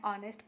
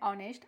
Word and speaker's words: honest: here, an R, an honest person, an honorable. So here H is silent. Okay. While writing we write H, but while reading we skip the H and we read the